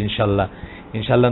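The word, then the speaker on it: إن شاء الله: আমরা ইনশাআল্লাহটা অনেক সময় আমাদের দেশি ভাষায় বলি, দেশি সিস্টেমে বলি ইনশাআল্লাহ না বলে বলা উচিত ইনশাআল্লাহ। হামজাটা স্পষ্টত উচ্চারণ করতে হবে, ইনশাআল্লাহ, আল্লাহটা আলগা করে হামজাটা উচ্চারণ করতে হবে, তবে ঠিক আছে।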